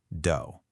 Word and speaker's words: dough: Even though it looks like it should rhyme with tough or rough, it's actually pronounced dough.